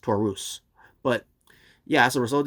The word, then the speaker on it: Taurus: over all the times i keep saying tourists but um that's pronounced taurus but yeah as a